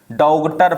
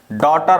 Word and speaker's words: daughter: कुछ लोग पढ़ेंगे डौ गटर, क्या पढ़ेंगे कुछ लोग, डौ घटर, डॉगटर पढ़ेंगे कुछ लोग, है ना। ये हमारा गलत रहेगा, डॉटर हमारा सही रहेगा, ठीक है ना।